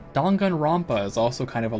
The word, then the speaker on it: Danganronpa: Danganronpa is also kind of a long game.